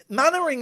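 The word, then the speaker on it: Mainwaring: teacher called lottie mannering mannering is a strange name because it's spelt main wearing and we say mannering what is what is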